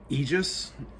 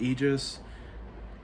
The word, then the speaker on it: Aegis: up next we have aegis i believe that's how it's pronounced aegis uh this album felt